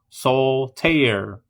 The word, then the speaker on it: Soulter: We invite you to meet Sunbeam Titan and Asuna N45, the duo couple behind the cosplay brand Soulter Cosplay, which is pronounced Soul Tear. Two syllables, not to be confused with the card game Solitare.